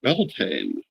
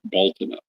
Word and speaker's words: Beltane: pronounce it as Samhain, in much the same way that they pronounce the spring holiday as Beltane, which is just as far off from the original pronunciation as Samhain is from Samhain. The actual pronunciation of Beltane being Baltana, or various close variations on that.